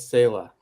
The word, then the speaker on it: Selah: Like Selah in the Psalms, but we're pronouncing it Selah.